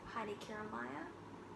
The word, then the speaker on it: Heidi Kiermaier: And it's this Jetstream shawl by Heidi Kiermaier.